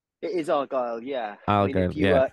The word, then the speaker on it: Argylle: Argylle, If you were Scottish, I think it would be called Argylle, so you kind of accent the G of Argylle. But everybody else pronouncing it Argylle with the accent on the A.